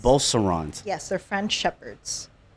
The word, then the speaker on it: Beauceron: called Bosserons. Beaucerons. Yes, they're French Shepherds. Spell it.